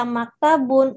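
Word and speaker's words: مكتب: Maktabun. Taknya pendek. Jadi, maktabun.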